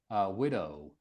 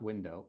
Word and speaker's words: widow: Widow. So widow and sorry, not window.